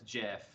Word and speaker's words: GIF: video okay pay attention the guy who invented them said it was jiff but what he invented it was just kind of like a smaller